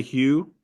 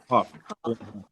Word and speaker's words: Hough: Juliana Hugh, or how do you say her name? Puff. Huff.